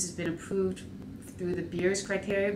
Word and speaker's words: Beers: been approved through the BIRS criteria. BIRS sounds like it's a good time.